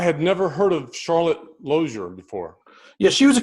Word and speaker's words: Lozier: Am I pronouncing Lozier correctly? It's actually Lozier.